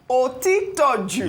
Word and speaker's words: Otitoju: Otitoju.